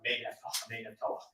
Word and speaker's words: Merneptah: Final R is dropped in late Egyptian R, closing the syllable drop. And so Merneptah would become something like May-Nephtalah.